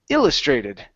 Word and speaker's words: illustrated: The stress is at the beginning. Instead of illustrated, it's illustrated.